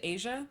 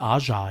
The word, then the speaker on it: Aja: Asia? Is that how we say her name? Or Aja? Aja, yes, Aja.